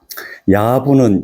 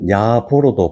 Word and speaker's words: 야부: 실을 한번 읽어 보겠습니다 야부 야보 발음합니다 부보 뭐 상관없다 없다고 생각합니다이 원래 산 이름입니다 그